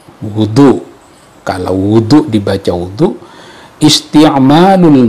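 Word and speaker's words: وضوء: Wa huwa bi dhammil wawi, wudu.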